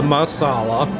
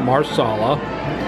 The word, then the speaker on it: masala: i've nearly polished off the masala not marsala i can't help pronouncing it that way and alicia how would